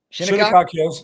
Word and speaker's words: Shinnecock Hills: Open, of course, happened last weekend at Shinnecock Hills Golf Club in New York. I believe I'm pronouncing it right. Shinnecock Hills.